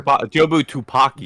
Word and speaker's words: Jobu Tupaki: his perspective is in such like it counteracts Jobu Tabaki or whatever. Is that Yeah. how you say it? Yeah. Because like her Jobu Tupaki.